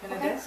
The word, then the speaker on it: Penedès: And so I think I would probably pronounce it the Penedès. Penedès, is that right? Penedès.